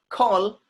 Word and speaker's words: call: A is coming with double L and the sound will become O. Do you say, please call me?